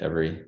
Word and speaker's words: Everee: with the idea for every and am I pronouncing the name of the company correctly uh you are yeah that's how you pronounce it every uh thanks for asking